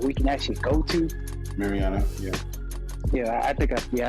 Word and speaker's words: Mariana: exploring the ocean you know we found the marina trench the deepest part of the ocean that we can actually go to mariana yeah yeah i think yeah i pronounced the